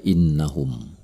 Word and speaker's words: إنهم: Perhatikanlah kata innahum. Ada nun bertasydid di situ. Maka ini adalah wunnah. Cara membacanya adalah dengan mendengungkannya selama 2 harokat. Innahum.